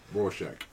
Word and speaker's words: Rorschach: Rorschach.